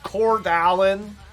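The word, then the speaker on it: Coeur d'Alene: i in spokane or cordeline you know what it is in the states i bet you they pronounce it in the states kordalyn i used to watch tv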